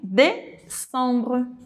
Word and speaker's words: décembre: ano A gente tem décembre, torto tortinho, caindo pra terminar o ano. Décembre, d’accord? Então aqui um agudinho bem aqui com a letra C e a fonética nasal “décembre” Sentiu falta de algum